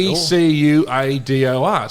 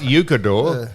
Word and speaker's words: Ecuador: E C U A D O R. So yes, I was Well, you had the spelling wrong, but just the pronunciation incorrect. Correct. It's not Ucador.